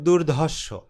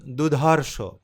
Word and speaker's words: দুর্ধর্ষ: তো শব্দটা ছিল দুর্ধর্ষ, কিন্তু উনি ভুলক্রমে যে কোনোভাবেই হোক, ওনার মুখ ফসকে হোক, উনি বলছেন দুধর্ষ। র যে রেফ হয়ে গেছে প্রথম, সেটার কিন্তু উনি উচ্চারণ করেননি।